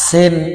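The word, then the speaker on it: سين: আগে থামায়ে দিতে হবে তারপরে সিন সিন সিন সিন তার মানে কিছু বাতাস ফ্রি বের করে সিনের উচ্চারণ করতে হবে সিন শিন সিন শিন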